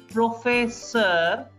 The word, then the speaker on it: professeur: Je suis professeur professor. E-U-R is er.